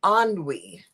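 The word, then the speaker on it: ennui: kind of tired and it's pronounced anwe isn't that nice I am anwe of you what do you think about that J uh sounds similar to bun we in French like good night to what bun we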